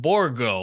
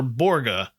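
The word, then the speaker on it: Borgå: It looks like it's spelled Porvu, but it's pronounced Borgo or Borgga.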